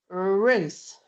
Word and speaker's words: Ruth: And I am going to finish by saying my name, which is Ruth. Let's do it. Ruth. Ruth. Ruth. Ruth. It's a perfectly good British English R sound.